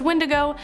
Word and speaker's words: wendigo: number seven the wendigo so the wendigo or sometimes pronounced windigo has been talked about